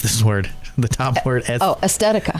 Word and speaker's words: Aesthetica: Oz, wrinkles, age spots, more or less getting more in-depth with skincare and how do you pronounce this word? The top word? Aesthetica. Aesthetica.